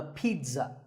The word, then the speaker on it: pizza: not a pizza and it's not a pizza there's no sound in this word it's Pete son pizza another food word that's mispronounced